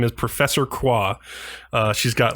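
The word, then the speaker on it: Croix: her name is Professor qua uh she's got like is that how they say it yeah that's how you say it qua it's a French pronunciation uh qua qua it's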